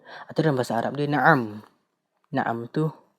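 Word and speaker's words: نعم: dalam bahasa Arab dia na'am. Na'am tu ejaan untuk bahasa Melayu lah. Ejaan Rumi, bahasa Melayu pula Rumi. Ejaan na'am adalah nun baris atas, ain baris atas, mim baris mati.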